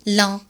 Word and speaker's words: lent: حرف الت في كلمة lent. La lettre T ne se prononce pas. لا تلفظ. Il est lent.